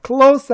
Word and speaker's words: clothes: 자, clothes 하면은요, 발음을 많이 어려워하시는데 그냥 clothes 이렇게 발음하시면 됩니다.